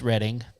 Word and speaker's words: Reading: Well, it's Reading. Yeah, I know that they think that. I refuse to enunciate that word when it's spelled reading.